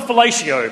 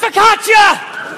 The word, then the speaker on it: focaccia: Well, Granddad's going, I'd like some fellatio, please. It's pronounced focaccia!